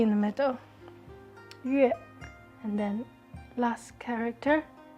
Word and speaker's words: 月: So moon, pronounced as 月.